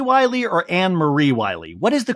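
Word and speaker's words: Annemarie: the way is it Anna Marie Wy or anarie Wy what is the correct way to say her name it's spelled an Marie but she says it Anna Marie because she's Dutch okay Co that's a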